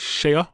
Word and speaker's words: Shea: Shea Lacey. That's how I pronounce it. Shea. Or Shea Butter. Like Shea Butter.